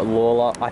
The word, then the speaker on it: Lalor: videos i'm here at laila or lola that's how it's pronounced by the metro announcements lady sorry that's what i'm